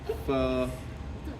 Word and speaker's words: pho: I recommend you get some pho and some bubble wrap and have your pho for dinner, and then, or actually, I learned it's pho. It's like a 2-syllable word.